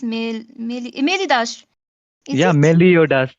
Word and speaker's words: Meliodas: But I think it's Melidash. Is Yeah, it? Meliodas. It's Meliodas.